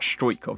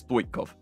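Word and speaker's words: Stoichkov: Not Strojkov, it's Stoikov. Maybe that's how you do it.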